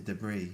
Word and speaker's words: debris: It's a silent s, isn't it? Yeah. Debris, right? Debris. They say debris. They say, and we say debris. Silent S. Debris.